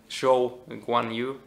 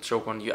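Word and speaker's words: Zhou Guanyu: So P12 is going to be Lando Norris, P13, a solid season from Zhou Guan Yu. I think you pronounce it Zhou Guan Yu. I always get it wrong.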